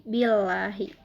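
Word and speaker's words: بِاللّٰهِ: Nah, billahi ini hukumnya adalah tarkik. Karena lafaz Allah didahului oleh huruf hijaiyah yaitu ba berharokat kasroh. Cara membacanya tipis, jadi billahi.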